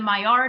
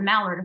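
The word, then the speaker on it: Maillard: my cooking video um where I mispronounced the myard effect called it a malard effect um that Browning that's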